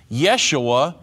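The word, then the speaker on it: ישוע: the exact same word Yeshua is the Hebrew pronunciation and Jesus is the English pronunciation for example if a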